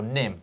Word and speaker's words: Nîmes: The Vuelta España kicked off on Saturday with a team time trial around Nîmes in France, or Nîmes, as I've been told it's pronounced in the comments section.